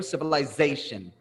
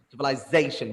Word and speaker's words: civilization: we see right here civilization civilization we stress the Z let's try the same